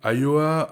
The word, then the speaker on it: Ayoa: Le cinquième et avant-dernier outil, c'est Ayoa. Ayoa, c'est s'écrit A-Y-O-A.